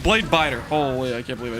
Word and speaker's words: Bladebitter: Not blade bitter. Dang it. Blade biter.